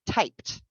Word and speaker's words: typed: It is spelled E-D. But in English, we never, ever, ever, ever, ever, ever, ever say ed at the end of a past tense word.